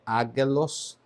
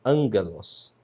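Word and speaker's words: ἄγγελος: Quando isso acontece, o primeiro gama se pronuncia como se fosse um ni, um som de n, nal. Por isso, ele é chamado de gama nasal. Então a pronúncia aqui não é aguelos, mas é angelos, tá?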